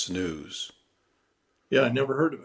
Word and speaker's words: snus: But I came across a story about a thing called snooze, SNUS. I think it's pronounced snooze.